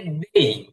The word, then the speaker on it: they: এরপরে হচ্ছে দেই। আমরা পড়েছি দে, দে না, দেই, দেই বা They.